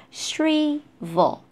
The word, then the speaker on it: shrivel: And for this one, shra, shri, shrivel. L at the end, and before L is a consonant sound, we pronounce O, so vo, shrivel, shrivel.